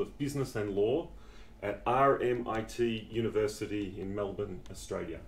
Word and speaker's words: RMIT: Business and Law at RMIT University in Melbourne, Australia. Not RMIT or RMIT or anything that a frog sounds like. RMIT. It's like I like to say MIT in Boston.